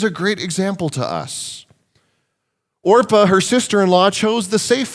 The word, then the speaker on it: Orpah: Oprah Winfrey because the her actual name is Orpah but it got mispronounced so much when she was a kid that she just started going by Oprah so there you go